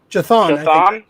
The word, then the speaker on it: Chthon: How do you pronounce that, Alex? Chithon? Python? Chithon? Chthon.